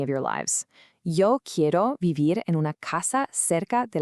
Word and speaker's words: vivir: Now for an IR verb, vivir, which means to live. Let's slowly pronounce this one together. Vivir. Make sure you voice those V's gently.